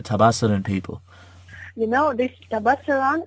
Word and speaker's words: Tabasaran: father is from a and please pardon my pronunciation. Is it Tabasaran?